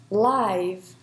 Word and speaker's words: live: should pronounce it as live live so it's the same spelling you only change your pronunciation depending on the words function in the sentence right so let's take